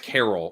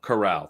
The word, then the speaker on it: Corral: willis pickett um uh it's like carol or cur i'm pronouncing it wrong oh matt carroll or whatever yeah doug is erica's new alt chorale corral that's what it is i know it's okay